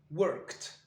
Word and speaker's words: worked: Ici, à la fin de work, on va prononcer worked. Comme si on avait prononcé un T.